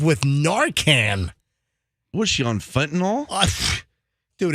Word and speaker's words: fentanyl: It's one of my peeves when people say fentanyl, like Tylenol. Well, I don't like it when you say, I went diving in Cayman. It's fentanyl. That's how you say it.